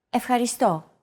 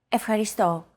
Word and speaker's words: Ευχαριστώ: It's the accent mark, and it indicates that this syllable is stressed. A stressed syllable is pronounced slightly longer and at a higher pitch than the rest of the syllables in a word.